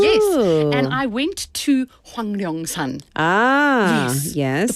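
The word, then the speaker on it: Hwangnyeongsan: Yes, and I went to Hwanglyeongsan. Yes. The pronunciation's very tough.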